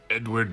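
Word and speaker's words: Eadweard: up his sleeve elbows out my name is Edward Muybridge that is pronounced end weird and yes I will take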